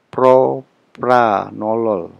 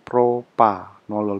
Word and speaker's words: propranolol: hambat flash zip propranolol mengingat pentingya propranolol bukan propanolol bukan jadi propranolol perhatikan pengejaan yang benar ngambil selektivitas satu itu